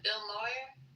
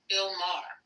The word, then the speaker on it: Bill Maher: I see Wayne Brady went after Bill Moyer. How do you say his name? Moyer? Saying that he's a racist. Bill Maher.